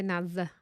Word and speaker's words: Naz: NAS, But you say it. pronounce it Naz though. I say Naz. You don't say Nas.